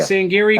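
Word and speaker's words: Sangerye: Bitterroot and it's a story about the Hsiang Hsiang Geary family am i pronouncing that right so they said that's close they saying Geary family yeah and they are a family of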